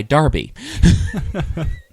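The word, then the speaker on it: Derby: Londoner yeah so if you actually knew to pronounce d rby y Darby Arsenal just saying that's some kind of a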